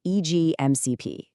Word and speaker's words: Easy-MCP: And by the way, you'll want to pronounce it EGMCP.